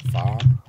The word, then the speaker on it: pho: Pronounced pho, even though spelled pho.